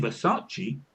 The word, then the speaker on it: Versace: that somebody didn't know how to pronounce Versace. It being Versace because they're Italian.